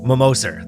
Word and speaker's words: Mammoser: here live with Mammoser. Did I say your last name right? That's right. I have a tricky last. Mammoser. Mammoser. That's right. You put emphasis on the syllable.